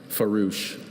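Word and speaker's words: farouche: Are there any alternate pronunciations? Just the one. Farouch.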